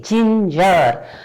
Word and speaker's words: ginger: See, this G is pronounced as J, ginger. Actually we pronounce it as ginger, like this. This is the pronunciation. So there is a sound of J, not G.